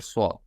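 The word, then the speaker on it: صاد: So if the that person is, non-Arabic, so he will pronounce like Sadaka with seen, because there is no pronunciation for swad.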